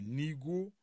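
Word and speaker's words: nigaud: Attrape, du verbe attraper, que vous savez écrire certainement, et nigo, qui s'écrit N-I-G-A-U-D.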